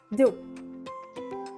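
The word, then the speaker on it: deux: Here are the numbers, here are the French spellings, and here are the pronunciations. 0. Z-E-R-O, and we say it as zero. 1. U-N, 2. D-E-U-X, do.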